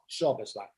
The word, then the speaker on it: Szoboszlai: Szoboszlai.